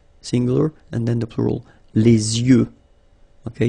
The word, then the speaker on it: les yeux: and then the plural, les yeux. Okay, you make this liaison between the two. Les yeux. Okay, final X not pronounced.